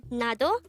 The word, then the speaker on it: 나도: hango word number 168 this is pronounced as a two-syllable word the first syllable is na second syllable is to pronounce it with me the word nado simply means me to